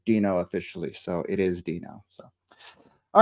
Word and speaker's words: Deno: in there talking about you know whether the pronunciation is Deno or Dino originally it was Deno then later the company changed it to Doo officially so it is Dino so all right so now we off bun